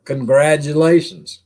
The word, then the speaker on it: congratulations: We don't pronounce the T. We replace the T with a D.